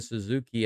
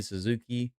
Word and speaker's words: Suzuki: You know in Japanese when you say Suzuki, it's not Suzuki, it's Suzuki. Suzuki. The stress is on the last syllable.